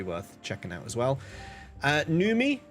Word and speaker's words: NVMIE: Numi, the U spelt with a V, NVMIE. Numi is an early supporter of my channel.